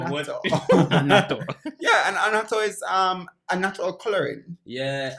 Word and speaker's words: annatto: I think was it anatano? Annatto. How you pronounce it? Annatto.